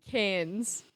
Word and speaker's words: Cairns: It's pronounced cans.